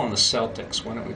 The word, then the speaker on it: Celtic: We don't have a soft C in Irish or in Celtic actually.